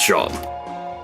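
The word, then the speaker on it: Seam: The name is Shom, pronounced Shom.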